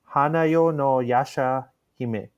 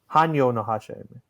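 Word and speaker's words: Hanyō no Yashahime: members for the Yasha Hime Princess Half Demon, Hanayo no Yasha Hime. Hanyo no Yasha Hime. Wow, I butchered that.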